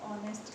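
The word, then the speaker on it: honest: ही बता दिया कि ऑनेस्ट के साथ जैसे, ठीक है, एन आ गया क्योंकि एच आपकी साइलेंट है, साउंड ऑफ की ओ की साउंड आ रही है, ठीक है।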